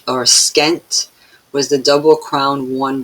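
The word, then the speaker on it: pschent: These were fastened to the Peshent. I'm saying it wrong again. Skent, if you say it like that, right?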